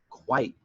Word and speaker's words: quite: before i say goodbye if i say quite it has one syllable that's different from quiet which has two syllables and if i only